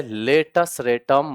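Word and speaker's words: latus rectum: लेटस रेटम का spelling देख लेना। हां वो रेक्टम है। लेकिन पढ़ा क्या जाएगा? रेटम। हां सी साइलेंट है।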